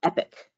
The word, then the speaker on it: EPC: working pretty well um so that is how it's pronounced epic uh it is the